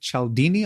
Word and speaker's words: Cialdini: From what I understand, this concept of psychological triggers is based on the work of Robert Cialdini. Am I pronouncing that correctly?